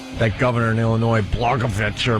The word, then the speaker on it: Blagojevich: That governor in Illinois, Blagojevich, or Blagojevich? Blagojevich, right.